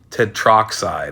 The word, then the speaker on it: tetroxide: gonna put tetraoxide but we get rid of the A and it just becomes Ted Talk Trot Tech tetroxide okay even I had